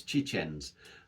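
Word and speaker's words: Książęce: how many times and I think it's chichens I think that's how it's pronounced in Polish it actually means princely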